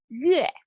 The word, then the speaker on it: 月: So for month in Chinese, we say 月. It sounds like 鱼, 月.